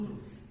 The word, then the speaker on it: route: In New York, we have two routes, or routes, like the Americans say, short and the scenic.